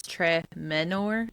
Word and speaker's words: Tremenor: Well, and then um uh real quick, according to Google, uh Alex's last name, you put the stress on the second syllable. So, it's tremenor. So, it's like tremenor.